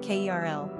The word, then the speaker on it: Carol: Pronunciation, Kerl.